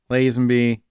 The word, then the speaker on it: Lazenby: It was like Connery, Lazenby.